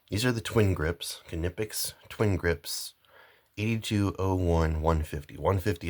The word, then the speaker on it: Knipex: And I say Knipex. Actual people at the factory, I watched the factory tour, say Knipex. That's how they say it. Knipex. That's how the actual people that build these tools say the name.